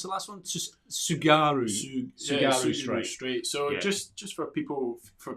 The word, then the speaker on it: Tsugaru: So we've still got the Catalina Channel and the, how do you pronounce the last one? Just Tsugaru Strait.